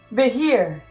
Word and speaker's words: behir: "Behir." Behir! That was really loud, sorry. Behir is how it's pronounced.